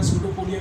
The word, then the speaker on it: pseudopodia: यहाँ पे स्पेलिंग देखिएगा, बहुत ध्यान से लिखिएगा, स्यूडोपोडिया कोई PSEUDOPODIA, स्यूडोपोडिया।